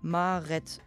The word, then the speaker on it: mare et: So spricht man zum Beispiel mare et, maret aus.